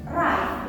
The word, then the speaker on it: right: Right, itu bacanya right, bukan read. Seperti itu ya.